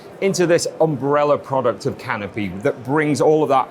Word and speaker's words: Canopi: the uh canopy portfolio what is it exactly pronounced correctly thank you yes it is canopy and it's a great